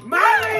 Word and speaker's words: Marley: It rhymes with Harley. Rhymes with Harley. Marley.